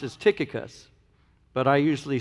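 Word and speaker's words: Tychicus: verse 7 now the way this name is pronounced is tikka cus but I usually say ty chika so let's see what happens here we'll just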